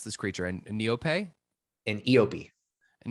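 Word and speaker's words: eopie: He's riding, how do we pronounce this creature? A Neope? An Eope. An Eope, which is like a camel on Tatooine, which we've seen these before.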